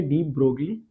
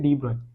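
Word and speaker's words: de Broglie: Spelling याद रखने के लिए आप इसको प्रोनाउंस कैसे करेंगे, डी ब्रोगली, वैसे इसकी प्रोनाउंसिएशन होती है डी ब्रॉय।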